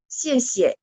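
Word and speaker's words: 谢谢: Nah, padahal kalau misalnya xie xie, secara yang benarnya adalah yang kata kedua tidak ada tanda nada, artinya nada ringan.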